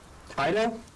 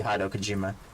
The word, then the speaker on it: Hideo Kojima: I mispronounced that. Written by Kojima. Hido? I think it'd be Hideo Kojima.